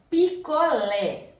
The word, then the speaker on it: picolé: Picolé. A sílaba tônica é o lé, é a última sílaba, ela é oxítona.